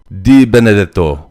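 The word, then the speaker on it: DeBenedetto: time pronouncing it but it's very easy it's just like it looks it's de benedetto D Benedito perfect oh I like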